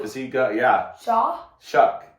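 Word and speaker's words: Shough: Shuck is how you say his last name, I believe. Is that right? That sounds right.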